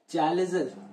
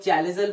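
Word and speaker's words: chalazal: था, that is your चैलेजल एंड, ठीक है। कई लोग चैलेजल बोल देते हैं स्टाइल मारते मारते, कई लोग चलाजल बोल देते हैं, ठीक है, कुछ भी बोल लो, स्पेलिंग यही लिखना।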